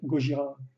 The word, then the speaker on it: Gojira: Parce que Godzilla, c'est vrai que les Japonais ils prononcent plus ça Gojira, Gojira, effectivement, comme le groupe en fait, qui a tiré son inspiration de là, je pense.